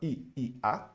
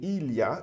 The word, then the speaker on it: il y a: Bom, primeira pronúncia do il y a, eu não vou falar I-A, mas sim il y a, eu vou juntar, tá ok?